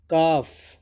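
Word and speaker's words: calf: जाती है कैलेंडर जंतर काफ काफ में एल साइलेंट रहेगा काफ बछड़ा गाय के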